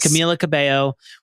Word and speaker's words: Camila Cabello: Everybody pronounces her name differently. Every single person. It's like, it's Camila Cabello.